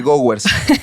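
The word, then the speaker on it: Gowers: los que no sepan se llama signo de ghowers así se pronuncia y es no es un signo que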